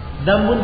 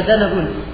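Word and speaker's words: ذنبا: Dambun dibaca danabun.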